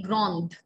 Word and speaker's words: grande: And if I want to say that she is tall, elle est grande, the sound in the end.